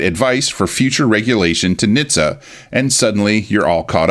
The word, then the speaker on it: NHTSA: The larger is the National Highway Traffic Safety Administration, or NHTSA, often pronounced NHTSA.